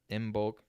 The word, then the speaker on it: Imbolc: The bottom line was, as we're talking about this event, which is called Imbolc, IMBOLC, which we've heard pronounced other ways as well.